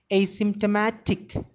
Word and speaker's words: asymptomatic: Asymptomatic. It's an adjective. A C M pa ta ma ya ta e k. Asymptomatic. Here the stress is given on very first syllable as well as on ma syllable.